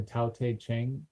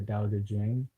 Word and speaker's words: Tao Te Ching: it the doubt the Tao Te Ching or the daodejing ta o te CH ing Tao Te Ching there's a few different pronunciations depending on how east or west your saying it that one is a